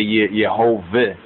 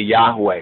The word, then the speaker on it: Yahweh: there right and see that's Yahweh or they say yov but really Yahweh right properly pronounced right according to the proper Sonics behold thou Hast made